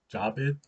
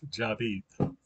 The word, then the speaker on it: Javid: um that's like david with the j david jabed pronounced job eat so a lot of people don't pronounce it right they pronounce it javid that's fine with me because we're in texas